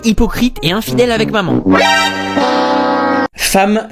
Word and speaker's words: femme: Femme ça s'écrit avec un e et ça se prononce avec un a.